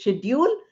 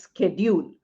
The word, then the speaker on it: schedule: It has two pronunciations. The pronunciation which was earlier is schedule, sh sound, and the American version is schedule, sk sound. Sk sound is how it is spelled.